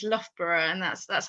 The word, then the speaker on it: Loughborough: if you've not seen it before but it's loughborough and that's that's how we pronounce it but um i will never be